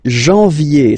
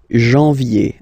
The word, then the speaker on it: janvier: But anyway, janvier. So that's the way to pronounce it. Janvier, A-N, en, okay? And then yé, yé, yé. Janvier.